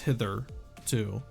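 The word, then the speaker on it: hitherto: far though I really do like that it's pronounced hither too oh was that hither come hither does that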